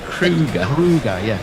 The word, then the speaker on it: Kruger: You say his name again, Dexter Kruger. Kruger, like the national park in South Africa.